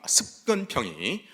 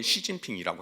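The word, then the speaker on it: 習近平: 그리고 이거를 바탕으로 해서 이 현재 중국의 그 권력서열 1위 습근평이 그 중국식 발음은 시진핑이라고 하는데, 특히 이제 이 시진핑이 집권한 이유에만 이게 해당되는 게 아닙니다.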